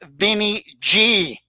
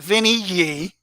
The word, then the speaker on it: Vinny G: Alpo, the name is pronounced Vinny G, not Vinny Yi.